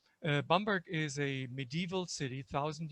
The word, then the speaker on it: Bamberg: in germany called bamberg to use the proper german pronunciation bamberg is a medieval city